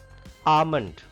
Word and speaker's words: almond: Almond. L is silent here.